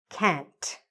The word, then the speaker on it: can't: say it properly can can't we have to hear the t at the end okay let's do it